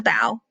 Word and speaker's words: bow: So this is actually pronounced bow, not bow. It's this part of the ship, the pointy part. It's called the bow.